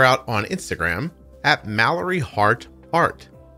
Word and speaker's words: Hart: You can check her out on Instagram at Mallory Hart Art. It sounds like it's spelled, and there's no E in heart. Mallory Hart Art.